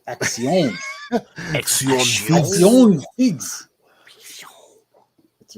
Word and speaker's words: Akxion: Akxion. Akxion Figs. That's right. Check out my Instagram. It's AKXION. It's Action Figs.